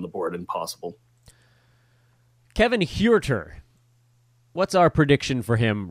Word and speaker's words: Huerter: think would cut into Huerter's value. Sorry, I got to say it like it's a Hispanic name. He doesn't look Hispanic. No, he doesn't. But, that's just how you pronounce it. It's H-U-E, Huerter.